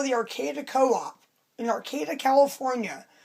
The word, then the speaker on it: Arcata: Like if you call the Arcata Co-op in Arcata, California, which is spelled with a T. I'm not talking about Arcadia.